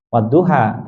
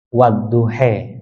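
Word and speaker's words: وَالضُّحَى: riwayat yang lain itu bacanya bukan wadduha tetapi wadduhhe ya jadi dibaca imalah gitu ya dibaca seperti kita mengatakan sate gitu ya Nah itu contoh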